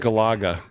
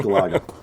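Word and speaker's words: Galaga: about that it's pronounced Gaga uh yeah it's pronounced Gaga and I'm the only one that pronounces it correctly the first game was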